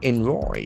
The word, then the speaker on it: envoy: They name envoy. E N V O Y. That is a very interesting noun. Envoy. Envoy. The accent for the first envoy.